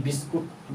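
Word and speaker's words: biscuit: ये गस हो गया ये बिस्कुट ये बिस्कुट नहीं हैय बिस्किट है ये क्या करेंगे इसको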